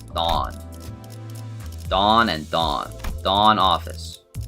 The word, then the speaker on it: Dawn: It's not Dowan. It's Dawn.